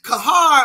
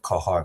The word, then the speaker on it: Qahhar: Kahar, are you ready for me, King?